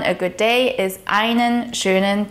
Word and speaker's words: schönen: The SEH in schönen is pronounced like the English SH sound, so it's pronounced schönen.